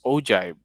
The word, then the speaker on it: ogive: community frequency graph or agile pronounced ogive and a histogram is